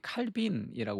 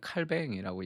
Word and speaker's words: 칼뱅: 우리가 기도를 배우다 해서 어 지난주까지는 루터와 어그스틴의 기도 편지로서의 기도를 우리가 배웠으면 이제 어 이번 주부터는 이제 칼뱅이 칼빈이라고 우리가 많이 들었는데이 프랑스 발음이라 요즘은 칼뱅이라고 얘기하더라고요.